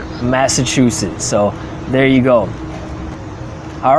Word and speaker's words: Massachusetts: I pronounce this as Massachusetts. You lived in the state. How do you pronounce it? That's it, Massachusetts. Massachusetts. Let's just confirm one time with the dictionary. Dictionary says Massachusetts.